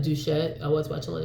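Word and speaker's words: Doucette: Like I was watching Greg Duvet, is that how you say it? Duchette.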